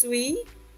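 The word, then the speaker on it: suis: middle here it's just sweet ilay on a this is we don't pronounce the S and the t d and u i is we so sweet I know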